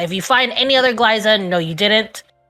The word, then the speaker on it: Glaiza: My name is Glaiza. That's a hard G, and Liza, like Liza Minnelli.